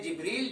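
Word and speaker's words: جبریل: ये जिब्रील यहां लिखा हुआ है जिब्राइल, इसका प्रोनाउंसिएशन करते हैं जिब्रील, जिब्राइल।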